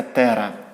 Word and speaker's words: тера: 12 ноликів це великий велика літера Т читається Тера Тобто ми Пишемо 5,9 Пишемо